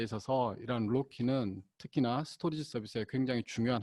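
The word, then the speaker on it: RoCE: 장점도 제공해드리고 있습니다 그리고 로키 rose rama 오버 컴퍼스 이더넷이 라고 하는 발음으로는 저희가 로키 라고 하는데요 이 로키 라는 부분은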